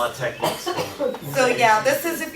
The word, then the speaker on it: TeX: It's pronounced tech.